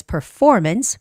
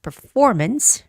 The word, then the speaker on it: performance: the word performance and the stress is on the second syllable so it's performance performance okay Grand theater downtown at 7:00 p.m.